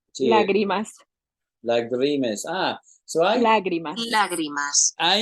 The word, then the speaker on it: lágrimas: And one of the songs I used to play was called Lagrima. Lágrimas. Lagrima, yeah. The accent is in the first syllable. Lágrimas.